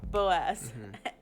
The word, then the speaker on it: Boaz: Boaz.